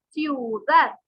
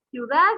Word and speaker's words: ciudad: en la penúltima sílaba ciudad ciudad lleva la mayor fuerza de voz en dar aunque no se tilda